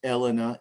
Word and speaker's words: Elena: to my mother uh elena uh pronounced elena in italian uh and my wife